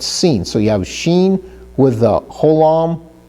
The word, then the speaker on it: sin: So if the holam is on the right, it's pronounced Shin. If it's on the left, it's pronounced sin, not sin, but sin.